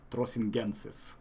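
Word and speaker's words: trossingensis: Uh, Crossingensis, I Yes, there we believe. go. The Latin and probably German pronunciation would be Trosingensis, Trosingensis, or Okay, something like that.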